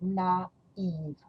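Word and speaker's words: naïve: That two dots on the I mean that you're going to pronounce the both vowel separately. Instead of AI, which make a sound A, you're going to pronounce naive. So it sounds almost like in English.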